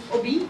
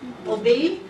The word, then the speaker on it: Obe: Obi? She said, no, it's Obe, like verb to obey.